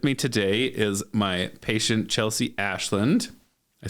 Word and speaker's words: Chelsea Ashland: With me today is my patient, ChelseaAshland.